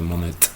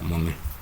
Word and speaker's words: Monet: En francés normalmente la última consonante no se pronuncia, no se dice Monet, sino Monet, Claude Monet.